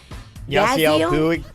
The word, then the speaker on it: Yasiel Puig: Yasiel Puig.